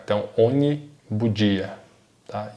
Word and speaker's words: ogni: GN, pessoal, GNI tem o som de NH, então ogni bugia.